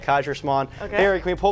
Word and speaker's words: Kaiserschmarrn: That's what it's called, Kaiserschmarrn.